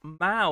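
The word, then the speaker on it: Mao: of the Caldera says the Moa is pronounced ma like a shorthand meow or the late communist Chinese chairman okay sorry ma my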